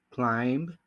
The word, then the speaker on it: climb: Ahora sí, la B silenciosa. Aquí, como vamos a ver en estas dos palabras, no se dice la B.